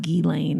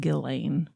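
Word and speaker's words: Ghislaine: Gizane, Maxwell, but apparently it's pronounced without the S. So S is silent. Yeah. I've heard like Gilane is how it's But I also heard Gillain.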